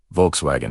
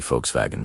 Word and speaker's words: Volkswagen: The German W is pronounced like an English V. So Volkswagen is actually Volkswagen V.